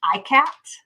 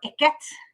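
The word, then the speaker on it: ikat: actual word of this i believe it is pronounced i cat or iket pattern it's i-k-a-t um it's i believe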